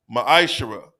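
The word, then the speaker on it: ma'aser: verses 8 through 10 means tenth in the Hebrew is pronounced maishara ten percent of every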